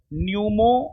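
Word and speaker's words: pneumo: नहीं जी, यहां पर जो है ना, नहीं सुनिए, पी साइलेंट है। Human Meta न्यूमो virus, P silent है बाबू, सी होगा, HMPV।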